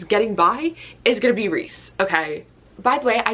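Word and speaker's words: Rhys: thought his name was Rise. So in my head, I still say Rise. What is he, bread? I just can't read that as Reese.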